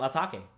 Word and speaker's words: Atake: And if you look at it, it could be eternal atake because that's how you would say it in a Japanese, you know, context. Atake. So that's why I say it like that.